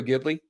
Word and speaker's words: Ghibli: Studio Ghibli?